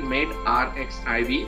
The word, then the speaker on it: medRxiv: MedRxiv, so this is the abbreviation MedRxiv, but it is pronounced as MedRxiv.